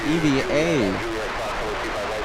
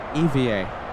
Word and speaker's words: EVA Air: Chris says Eva Air officially pronounced by spelling out the letters EVA. Eva air.